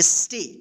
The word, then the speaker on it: stay: ठीक है, यानी जब किसी वर्ड में ए के बाद वाई या आई रहे तब उस ए का ए उच्चारण होगा। ठीक है, जैसे यहाँ पे देखिए STAY क्या पढ़ेंगे, स्टे, क्या पढ़ेंगे, स्टे।